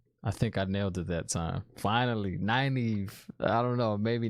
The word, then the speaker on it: Nynaeve: Let me see if I can pronounce this right. Nynaeve. I think I nailed it. I think I nailed it that time. Finally, Nynaeve.